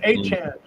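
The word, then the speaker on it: Achane: It's Achan. Achan, excuse me. That's his name. They used to pronounce it Achan. Everybody in the media and everything. Yeah, but it's Achan.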